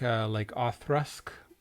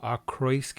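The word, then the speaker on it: Auchroisk: with this one it's much more like Othrusk or Akroisk if you want to look at it phonetically, the way it's spelled. I believe it's Othrusk, I think.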